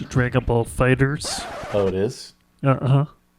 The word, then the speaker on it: Dragon Ball FighterZ: actually, Mike, it's pronounced Dragon Ball Fighters.